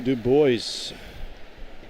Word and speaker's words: Du Bois: Grand Caravan, Southern Airways Express 121 to Du Bois.